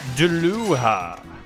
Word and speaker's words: Dullahan: Is pronounced Deluha. Why, you son of a... Duluhan.